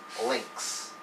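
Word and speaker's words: lynx: links okay y in the middle of word sounds like I so I sounds like right so if it's in here it sounds like I so just treat it as I right so you pronounce l y n x as links Z or z uh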